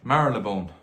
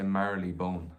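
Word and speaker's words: Marylebone: merlin thanks very much marilebone i always say merrily bone and that's not how you say it um this is a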